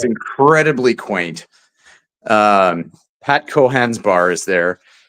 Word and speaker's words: Cohan: I'm going yeah it's incredibly quaint um Pat cohan's bar is there it's pronounced Cohan um yeah melino f um but